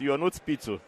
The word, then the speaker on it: Ionut Pitu: We're not going to be able to pronounce it. We're gonna call him. Well, you can try it. It's Ionut Pitu.